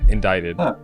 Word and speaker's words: indicted: it's spelled and yeah indicted it's it's one of those words that like has a random silent letter in it yeah that's a weird